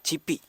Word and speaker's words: CYPY: Nah, teman-teman ini dua orang ini adalah pemilik usaha Cipi. Tulisannya CYPY. CPY, dibacanya Cipi gitu ya.